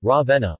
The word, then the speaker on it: Ravenna: Ravenna Italian pronunciation Ravenna also locally Ravenna listen bro Magnum Raveena